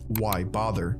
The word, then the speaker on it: Wybather: as short phrases, like Wybather, which is pronounced why bother.